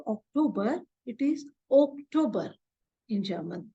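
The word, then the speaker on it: Oktober: not October it is October oober in German because o is pronounced as o in German language so it is October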